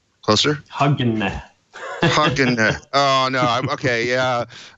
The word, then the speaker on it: Hogne: Actually, Dan Wood did a great job pronouncing my name. It's Hogne in Norwegian, and he should perhaps give his take afterwards. I'm in from Norway. Hogne. Closer? Hogne.